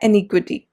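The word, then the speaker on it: iniquity: ये है इनएक्विटी, ये है एनिक्विटी, that is a pronunciation difference.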